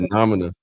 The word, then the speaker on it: noumena: I said phenomena and I couldn't even pronounce that. Noumena. Sorry. I think you said noumena.